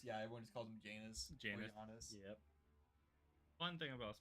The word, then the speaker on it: Janus: Or how is it supposed to be pronounced? Janus. Yeah, everyone just calls him Janus.